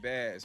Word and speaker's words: Bas: P and I realized I've been saying the name wrong, too. P and Bas, man. I kept saying Boss.